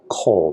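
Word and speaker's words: כֹּל: the mac f and it just has a different vowel but it still sounds the same this is coal that's a short vowel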